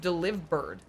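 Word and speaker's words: Delibird: Yoyo just wrote deli bird is pronounced deliver bird delivered like deliver.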